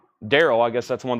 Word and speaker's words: Daryl: I'm saying that right I guess it's pronounced just like Daryl I guess that's one